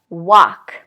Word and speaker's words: walk: it should be half or walk no L walk okay what about this last group so this